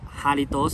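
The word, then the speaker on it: Jarritos: มะขาม ครับ มะขาม โซดา ยี่ห้อ นี้ น่า จะ อ่าน ว่า harness มะ เพราะ ว่า ภาษา สเปน อ้ะ มัน เป็น เครื่อง ดื่ม น้ำ อารมณ์ ของ แม็กซิกัน ไง ก็ พูด ภาษา สเปน ก็ คือ ตัว j เนี่ย มัน จะ อ่าน เป็น เสียง ตัว S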